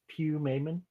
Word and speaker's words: Pumaman: It's pronounced Pew Mayman.